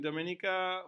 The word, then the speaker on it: Dominica: island in the Caribbean no it's not Dominican I saw the Dominican Republic it's Dominica Dominica so this could be